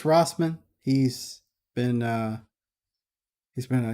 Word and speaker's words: Rossman: Uh, the YouTuber named Louis Roseman, he's been or Ross, I think it's pronounced Louis. Yeah, Louis Rossman.